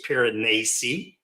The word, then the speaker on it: Piranesi: One would be Piranesi that I read this year, and it's a short book. It's less than 200 pages. It's spelled Anesi. And I learned how to pronounce it from Philip Chase, Piranesi.